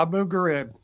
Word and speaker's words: Abu Ghraib: But when I started reading his book, and help me, Bob, trying to pronounce the last part, Abu Ghraib. Yeah, Abu Ghraib.